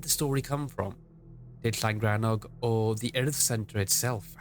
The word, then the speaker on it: Llangrannog: So when I was 10 years old, my school took me to what is commonly known as Llangrannog. And yes, if you don't know, that is how it's pronounced.